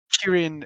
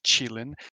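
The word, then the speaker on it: 麒麟: Kirin is the Japanese pronunciation. The Chinese pronunciation is Qilin. Well, Chilling. I mean, it's the anglicized version, but yeah, Qilin is the Chinese version.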